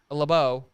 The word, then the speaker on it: LeBeau: Later came out and said Brown shouted out at defensive coordinator Dick LeBeau. Is that pronounced correctly?